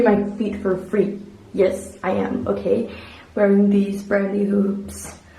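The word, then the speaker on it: Οία: I believe it's called Ia. It's spelled Oa.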